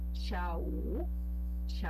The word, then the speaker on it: 下: Então, para falar de tarde, a gente usa xiao, do jeito que tá aqui. Xia, Não é tchá, né? não, é com X mesmo.